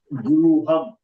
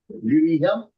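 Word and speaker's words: गृहम्: Napunsak ling Guruham. That is the house. Guruham. Giriham ne. Giriham. Giri is the Hindi pronunciation. Guruham.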